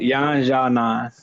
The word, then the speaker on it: Yan Xiaonan: Yan Xiaonan. Yeah, there you go. Yao Zhang. Yan Xiaonan.